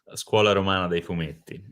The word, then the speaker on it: Scuola Romana dei Fumetti: Scuola Romana dei Fumetti.